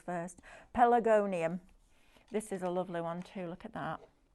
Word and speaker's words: Pelargonium: I have to do it in syllables first. Pelargonium.